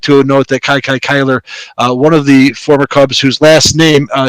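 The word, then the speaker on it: Kiki Cuyler: would talk about him Kai Kai Kyler not Kiki not Kiki Kai Kai Kyler I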